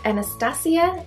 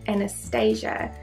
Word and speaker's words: Anastasia: and the shade granite is it Anastacio or as an Anastasia I'm not actually sure if it it pronounced both ways though I predominantly hear